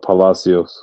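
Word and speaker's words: Palacios: Uh, Palasios. That's exactly how it's spelled or how it sounds. P A L A C I O S.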